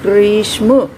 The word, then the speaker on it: ग्रीष्म: अब आराम आराम से इस शब्द को अगर बोल करके देखेंगे, ग्रीष्म, सबसे पहले किसकी ध्वनि सुनाई दे रही है, ग, ग्रीष्म, फिर र की, फिर ई की, और उसके बाद श और फिर म की।